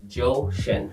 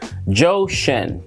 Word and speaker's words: Zhou Shen: Zhou Shen. Zhou Shen. Zhou Shen. Zhou Shen. I wonder if his real name is Joe. It's spelled Z-H-O-U, but it's pronounced Joe.